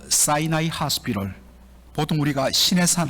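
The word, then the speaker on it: Sinai: 그 사이나이 하스피럴, 보통 우리가 시내산 할 때 그 시내산, 영어로 이제 사이나이라고 발음을 하는데 사이나이 하스피럴, 벌써 이름을 들어보시면 알겠지만 주이시 계통의 하스피럴 병원입니다.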